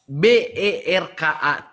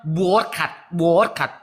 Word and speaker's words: Berkat: Di dalam kamus KLBI bahasa Indonesia BERKAT dibacanya Berkat, bukan Borkat.